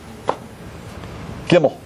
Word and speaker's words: Gimel: Is that good, Gimel? Yeah, that's great.